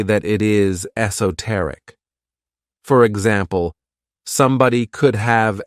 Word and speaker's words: esoteric: my favorite adjectives is esoteric this word has four syllables and the stress is on that third syllable esoteric when we describe